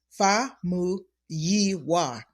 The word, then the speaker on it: Famuyiwa: what I tell patients it's break it up into phonetics right two letters at a time Fu yiwa fuwa fuwa correct I